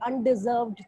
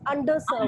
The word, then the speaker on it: underserved: I guess it was just a lapse, inadvertent lapse that you said Okay. Undeserved children. It is underserved.